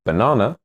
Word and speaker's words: banana: For example, in the word banana, the stress is on the second syllable. Banana. The stressed A has an R sound, but the other two A's have schwa sounds.